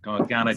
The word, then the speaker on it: Garganega: And now we'll get on with our Garganega, Richard. Yeah, so I always mispronounce it. I'm sorry about that. I know everybody does. Garganega is quite a natural. Garganega.